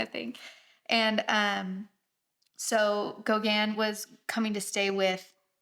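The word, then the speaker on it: Gauguin: like hear how it's are you ready yeah Gogan Gogan okay I wasn't too far off um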